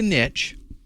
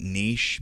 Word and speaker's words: niche: to start pronouncing that Niche because I think it's a French word and that's the way you're supposed to pronounce it but uh I'm from